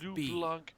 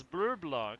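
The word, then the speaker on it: Bleublanc: call you Phantom Thief blue Blanc oh brother you up both syllabes it's blue Blanc come on what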